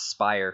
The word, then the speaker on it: Spire: I guess it's Spire, right? Yeah, Spire, not Spirey.